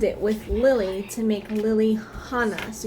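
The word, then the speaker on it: Lillihana: with lily to make lily hannah so you are supposed to pronounce the h in there so the way you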